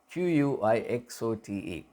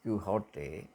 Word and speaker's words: Quixote: If you want, the Spanish pronunciation is Quixote. If you want to stick to the English pronunciation, it is Quixote. Quixote. But in the literary context, we use the Spanish pronunciation rather than the English pronunciation.